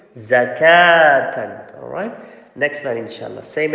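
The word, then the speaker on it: زكاةً: Remember, this waw after the kaf is the extra letter waw. Okay, you don't need to pronounce it. It's not zakawatan, it's zakatan.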